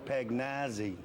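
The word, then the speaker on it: Pagnozzi: on the hill, and every time you come up to the bat, she says, "Oh my God, it's Tommaso Pagnazzi." That's right. And that's the way you pronounce it. That's, I mean, that's the way they pronounce it over there.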